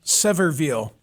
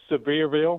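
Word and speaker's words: Sevierville: I'm so glad that you called from Severville. Am I saying it correctly? Say it out loud for me. No, it's it's Severeville.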